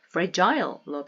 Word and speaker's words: fragile: 아까 말씀드렸던 또는 frile로 발음하셔도 돼요.